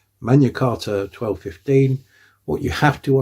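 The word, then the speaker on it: Magna Carta: the great charter, the mana carta uh 1215 and I do know that I said mana and not magna because in Latin mana is the correct way of pronouncing it. Manarta 1215.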